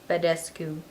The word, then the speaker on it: Badescu: It is the Mario Badescu. Every time I say his name wrong. Badescu.